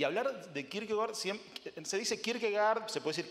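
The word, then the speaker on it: Kierkegaard: de Kirk se dice Kirk gard se puede decir Kirk gord porque la pronunciación algunos pronuncian así por la pronunciación danesa así que por ahí ustedes escucharán que algunos dicen Kirk gord no por la la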